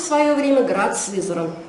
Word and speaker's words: Сызрань: Но в конце концов в результате получилось сначала Сызрань, а теперь уже более мягкое значение этого слова, вернее произношение этого слова – это Сызрань.